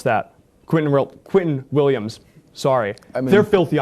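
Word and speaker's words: Quinnen Williams: They went from having an abysmal defense to having the development of Sauce Gardner, the development of Keenan Williams. Just pronounce that. Quentin Williams.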